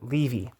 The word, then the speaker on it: Levy: It's not Levy, it's a Levy. Levy is how you pronounce it on this channel.